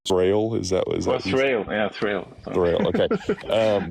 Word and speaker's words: Thrayle: To answer your question about not knowing, I don't know how to pronounce Thrayle. Is that Thrayle? Yeah, Thrayle.